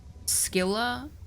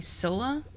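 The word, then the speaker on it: Scylla: And for uh Skila, I'm so used to hearing Sila because of Epic the Musical because they use they they pronounce the name Sila there instead of Skila.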